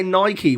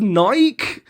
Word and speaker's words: Nike: when you say no you guys say Nike where's the waters there's no y on the end of Nike Nike where's the wild knee